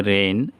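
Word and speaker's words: reign: জি এনের পূর্বে আই আছে রেইন, রাজত্ব। এইখানেও জি এনের পূর্বে আই আছে, তাহলে জি উচ্চারণ হলো না, ডিজাইন, নকশা।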